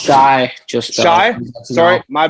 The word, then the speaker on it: Shai: It's actually pronounced Shai.